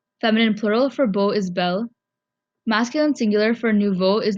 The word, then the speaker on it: bel: you need to use Bell for example to say handsome man you would say Bell om where bell is spelled b-e-l now pay attention to